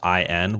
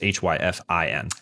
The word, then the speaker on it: Hyphen: happen to be searching, it's Hyfin. We're going to put it in the chat, but just, for a word that is phonetically very similar to another common word, hyphen is Hyfin. Ah, yes. Instead of Hypagn.